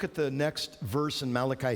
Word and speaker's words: Malachi: go to Malachi 3 some people pronounce that mulashi probably people of Italian ancestry and it's Malachi he was one of